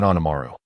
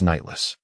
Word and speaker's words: Nightless: You mispronounced the name again. Though I am the one you assume. My name is not Anamaru. It is Nightless.